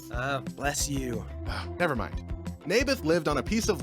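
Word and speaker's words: Naboth: you mean nathan yeah that's what i said maeberf i think you're saying it wrong his name was neybeth ah bless you never mind nabith lived on a piece of land that was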